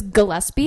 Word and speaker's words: Gillespie: so it's Gillespie. It's a hard G.